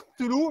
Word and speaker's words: Cthulhu: Et en fait, nous, on prononce Cthulhu, mais théoriquement, ça ne doit pas se prononcer Cthulhu, simplement, ce ne serait pas prononçable par des cordes vocales humaines.